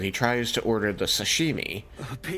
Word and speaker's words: sashimi: But he pronounced it like shashini or whatever. It is not far to fight. The waiter was just like asked to repeat it like four times. Like it's sashimi.